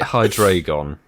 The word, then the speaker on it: Hydreigon: Is it Hydreigon?